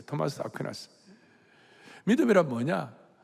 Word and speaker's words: 아퀴나스: 한국 발음은 아퀴나스인데, 토마스 아퀴나스.